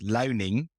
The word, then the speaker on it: Luining: I think in English it's Luining.